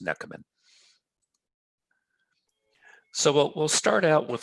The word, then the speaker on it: Nechamen: pronounce my name it's if you turn the k the h into a k you'll get it right it's pronounced neckerman so we'll start out